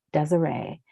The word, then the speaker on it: Desiree: She wondered, danced profusely, returned to a time when her name was Desire, pronounced Desiree, when everything was erotic, when everything was beautiful, strange, and they were faggots.